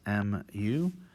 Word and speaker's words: mu: or transliterate it as m u it's pronounced as uh you might imagine an m followed by u literally m u mu and it's written sort